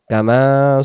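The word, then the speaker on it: كَمَا: মুহাম্মাদ ওয়ালা আলি মুহাম্মাদ কামা সাল্লাইতা আলা ইব্রাহিম কামাল যেন না হয় সলাইতা সলাইতা সলাইতা কামা সাল্লালাইতা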